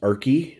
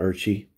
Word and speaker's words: Arki: the great Saint and Coug, Arki Sin Fracco, and it is pronounced Arki, not Archie.